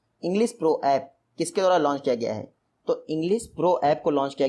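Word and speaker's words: English Pro: Next question है, इंग्लिश प्रो ऐप किसके द्वारा लॉन्च किया गया है?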